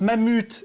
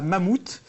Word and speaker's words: Mammut: Pour ceux qui ont la référence et qui sont de la génération du Club Dorothée, c'est très important, on prononce Mammut et pas Mammouth.